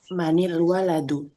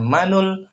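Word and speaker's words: مَنِ الْوَلَدُ: Cara membacanya disambung dengan dikasrkan huruf nunnya menjadi manil waladu. Oh manil bukan manul bukan manal.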